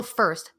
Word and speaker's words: Foerst: Nope, it's not forest. You can see me through the trees, in the trees, around the trees. There's nothing tree-like about me. But yeah. I insist on calling you Foerst and over-pronunciate the Foerst because it is still first Foerst.